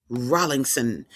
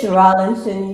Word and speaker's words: Rollinson: Rolingson. Is it Rolingson or Rollingson? Which is it? It's Rollinson. You got it right. I said it right the first time.